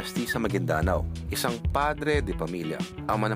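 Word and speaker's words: Maguindanao: e kay kay gob hindi pala magindanao an magindanao yun pa ang tamang pronunciation gob ah maging Dano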